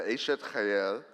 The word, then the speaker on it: Eshet Chayil: During dinner, a member of the JPEF board will present the Eshet Chayil, am I pronouncing that right?